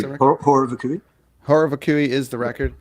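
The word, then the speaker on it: Horror Vacui: Horror Vakui, is that how you pronounce it? Horror Vakui.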